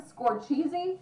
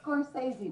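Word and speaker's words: Scorsese: about actors he says Mar Martin scor cheesy yeah but no it's scorey Dad what about that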